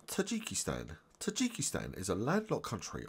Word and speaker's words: Tajikistan: in this video we will learn how to pronounce Tajikistan Tajikistan is a landlocked country on the Asian